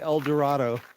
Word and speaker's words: El Dorado: Yeah, and for you non-Kansans, for the non-Kansans in here, yes, they pronounce it El Dorado here in Kansas. They're not cool with the rest of the world saying El Dorado.